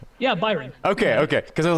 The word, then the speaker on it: Byron: i introduced you as byron is that gonna pronounce your name right yeah byron okay okay because i was like damn like